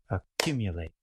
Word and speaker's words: accumulate: I will clap where we generally place the main stress. Accumulate, accumulate. But in the noun accumulation,